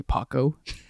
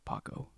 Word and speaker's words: Paco: It's pronounced Paco, but a lot of people they say Paco, which is it's fine.